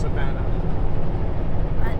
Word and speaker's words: Savona: right for once but you can see how savu became Savona that then just pronounced Savannah the the American s